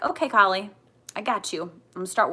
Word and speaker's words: Kali: um i kept um goddess kali or cali i think it's kali is the proper pronunciation came into my field